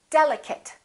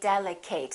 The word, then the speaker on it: delicate: nouns and some adjectives delicate don't say delegate that's a very common mistake chocolate a lot of